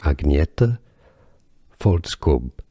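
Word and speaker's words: Agnetha Fältskog: Her name, however, pronunciation, for me, has been a journey. Agnetha Faltskog.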